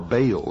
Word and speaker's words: Baal: the ancient worship of Baal our bail is some pronounce it ma was the Sun